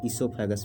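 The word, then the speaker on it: esophagus: term कहते हैं सोगस सोगस या इसोफागस ठीक है दोस्तों इसमें ओ साइलेंट होता है इसे सोफैक पढ़ते हैं तो विंड पाइप को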